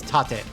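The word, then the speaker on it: 縦: so far has had tape mode it's tate patemodo well yeah if you're not used to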